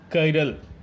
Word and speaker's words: chiral: Our hand are asymmetric and it should be pronounced as chiral.